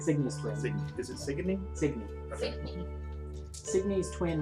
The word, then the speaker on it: Signe: Sydney's twin, right? Signy's twin. Is it Signy?